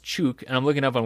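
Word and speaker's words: Ćuk: you can oh yeah it's pronounced chook and I'm looking up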